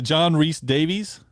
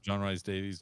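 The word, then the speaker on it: John Rhys-Davies: Is it John Rhys Davies? Yeah, is that how you pronounce it? John Rhys Davies.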